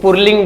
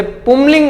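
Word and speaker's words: पुंलिंग: हमारी आदत है कई ये क्या है कि हमारे हैबिचुअल हो गए हम इसको पुरलिंग बोलने के लिए। कितने लिंग होते हैं, 3 लिंग होते हैं, पुरलिंग, स्त्रीलिंग, स्त्रीलिंग और नपुंसकलिंग। तो इनका शुद्ध उच्चारण क्या होता है, वैसे पुमलिंग होता है, क्योंकि ये म है,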